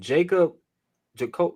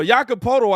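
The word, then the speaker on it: Jakob Pöltl: starving me too hey say this man's name again jacob jacob you know how to say it on the spurs hey bro hey hey listen that's why i'm here i told her i got y'all no no yakapoto i had that that's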